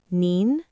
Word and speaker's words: 您: They're similar, but not the same. One is ni, and the other is nin.